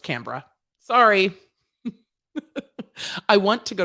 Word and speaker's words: Canberra: hard for me uh canberra is pronounced canberra sorry i want to